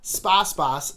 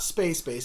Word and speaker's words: Space Base: Sposs Boss, not Space Base. Space Base is the incorrect pronunciation.